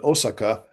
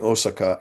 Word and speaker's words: Osaka: Archdeacon Charles Frederick Warren, 1841 to 1899, the CMS missionary in Osaka, was much involved in the translation of the Anglican Book of Common Prayer. I'm pronouncing Osaka in the Japanese way.